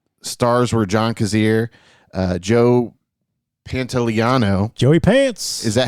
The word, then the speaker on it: Pantoliano: Stars were John Kazir, Joe Pantoliano. Joey Pants. Is that how you say his name? Yeah, Pantoliano.